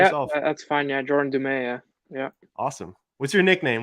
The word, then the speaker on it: Dumais: Yeah, Jordan Dumais.